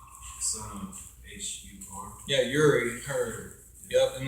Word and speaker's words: Hur: name, first name was spelled U-R-I, son of H-U-R.